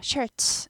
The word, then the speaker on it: shirts: t하고 s 만나면 t스 하지 않고 치 발음이 나죠. shirts 이렇게 되죠.